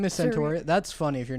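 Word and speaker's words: Centorea: How do you pronounce her name? Centauria. Centauria, and then her short name is like Saria. Her name is Centauria.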